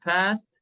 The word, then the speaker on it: passed: For example, I passed my mid-course last week. My mid-course exam last week. Passed. Why ta here? Because sa. Because the last sound is sa.